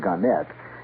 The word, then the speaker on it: Gannett: Gannett, or Gannett, they prefer to pronounce it Gannett, Westchester newspapers.